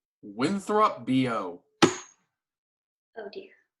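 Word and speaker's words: Bejou: is your name winthrop b.o oh dear it's spelled b-e-j-o-u isn't that bitchu no it's b.o it's french let's list your strengths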